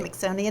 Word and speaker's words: Mixonian: Yes, at the Mixonian Institute, which rhymes with Smithsonian, everybody.